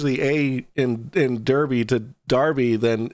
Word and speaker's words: Derby: Big Fish wants me to remind you that it's pronounced Darby. Darby, I'm sorry. Listen, we're Americans. We're Americans. It's American. Look, if you want it to be pronounced Darby, you put an A in there. Exactly. Look, it's an American exceptionalism here, all right? It's Derby because there's an E. Yeah. Put an A in it and we'll start pronouncing it Darby, okay?